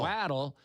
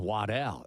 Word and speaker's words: Waddle: Sometimes people pronounce it for some strange reason, Waddell.